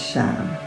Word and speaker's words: Sham: It's a high pitch E for the exercise, and the one syllable Sanskrit mantra is Sham.